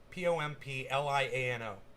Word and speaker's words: Pompliano: guy's name is Anthony pompliano just like it's pronounced p-o-m-p-l-i-a-n-o pompliano Anthony January six panel votes to hold